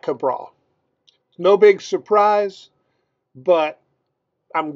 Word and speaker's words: Cabral: his name he said it's like the Backyard Brawl this guy already gets